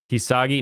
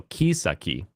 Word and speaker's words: Kisaki: Kisagi? No, Kisaki. Like, key's a key.